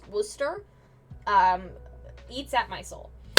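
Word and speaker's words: Worcester: wild the fact that a place could be look like Worchester but be called W Worster um eats at my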